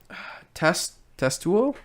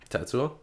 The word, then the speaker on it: Tetsuo: One of my notes I took, I said, Testuo? I don't even know how to say his name. Tetsuo?